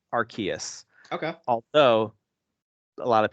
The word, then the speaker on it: Arceus: Before it was officially revealed, fans began pronouncing it as Arceus early on, which is why it's still a popular pronunciation now.